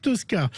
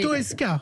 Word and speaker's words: Toesca: Alors, ça y est, c'est le son pour Marc Tosca. Alors, Toesca, j'ai dit Toesca. Oui, s'il vous plaît. C'est Toesca. Oui, Toesca. Vous prononcez mal. Non. Toesca, c'est... Non, Tosca, c'est un opéra.